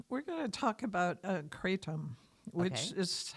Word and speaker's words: Kratom: Anyway, we're going to talk about Kratom, which is how it's pronounced, actually, according to Wikipedia. It's pronounced exactly like it's spelled, but the accent's on the second syllable.